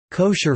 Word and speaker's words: kosher: Food that may be consumed according to halakha law is termed kosher in English, from the Ashkenazi pronunciation of the Hebrew term kasher, kasher meaning fit.